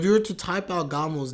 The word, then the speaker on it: Gamo: type out Gamo's name, you would have the U in the hiragana. So when you translate to English, that's why sometimes you see the U as well. But it's just a long O sound.